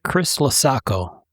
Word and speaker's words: Chris Laco: Chris Chris Laco. Yeah. Says it rhymes like Christmas tree or something. rhymes with Christmas taco.